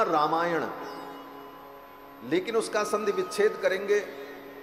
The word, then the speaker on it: रामायण: और रामायण में जो न है अंत में, वो व्याकरण के नियम से ण हो जाता है उच्चारण के समय में, तो शब्द बना रामायण।